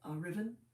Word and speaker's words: Ruthven: with Aubrey and with we would pronounce it Lord Ruthven or Riven, and he published it